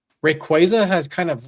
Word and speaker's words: Rayquaza: and we're like, it will always be Rayquaza. I don't care what anybody say. I know. I know. I will say Rayquaza has kind of like lost its like uh